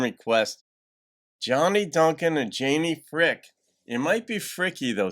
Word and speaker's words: Fricke: Some of you folks, I think like a year ago were like, it's Fricky. But I I see frick and I went to school with somebody with the same last name and he pronounced it frick.